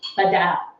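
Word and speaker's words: Beirão: making a cocktail featuring a Brazilian Lor called bad and it's uh it's it's spelled b e i r a o and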